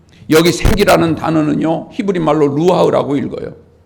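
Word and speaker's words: רוח: 여기 생기라는 단어는요, 히브리 말로 루하흐라고 읽어요.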